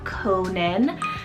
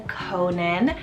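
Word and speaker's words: Konan: down the list here next up we have Conan for k-o-n-a-n Conan this one's a Japanese and Irish rooted name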